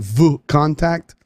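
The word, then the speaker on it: VKontakte: that region the contact i know it sounds like i'm saying vo contact because i am it's spelled v k o n t a k t e dot r u for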